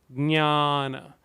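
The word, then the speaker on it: ज्ञान: Usually we have a J-N-Y, J-N-A, N-A, right? N with the tilde over it. So that we just have the pronunciation right, I change it to G because it is G and then Nya,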